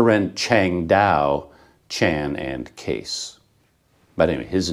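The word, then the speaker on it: Kees: wrong it is pronounced case i guess that's the dutch pronunciation of those letters that's just how it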